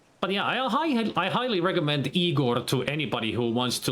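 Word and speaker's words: Igorrr: And it's spelled I-G-O triple R, Igor.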